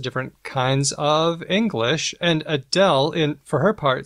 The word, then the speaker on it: Adele: The singer Adele took a question from a fan who pronounced her name with L vocalization, as in something like, I'll just play the audio here.